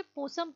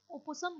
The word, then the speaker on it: possum: इसे possum pronounce किया जाता है, opossum नहीं.